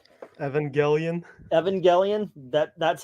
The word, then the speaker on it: Evangelion: ape something from English so yeah so it's Evangelion or Evangelion or EV Neon Genesis engan I